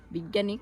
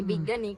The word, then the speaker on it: বৈজ্ঞানিক: Mister আমি বিজ্ঞানিক। আমি বিজ্ঞানিক। আমি আমি আপনাকে ডাইরেকশনের আমি বৈজ্ঞানিক না তো এটার উচ্চারণ হবে বৈজ্ঞানিক আমি থিওরি বলব